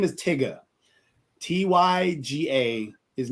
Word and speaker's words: Tyga: the guy he said as Tyga it's not pronounced Tyga his name is Tigger t-y-g-a his name is Tigger not Tyga I